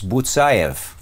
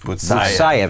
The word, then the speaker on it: Butsayev: It's Butsayev. Butsayev, accent on the second to last syllable.